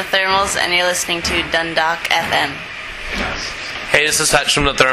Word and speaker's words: Dundalk: That sounds like Dundalk, but no, it's the L is silent. It's just Dundalk.